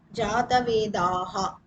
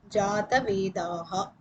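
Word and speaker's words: जातवेदाः: Jatavedas is the main word. But when we pronounce it, the word will be Jatavedaha.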